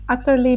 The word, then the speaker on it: utterly: Make sure you don't pronounce it like a D sound Uh, for utterly, you know?